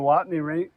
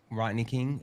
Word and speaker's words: Rodney King: During the Watney Ring, during the I'm saying it wrong. The riots in Los Angeles in the late 70s. Watts. The Watts Rodney riots. King. Rodney King.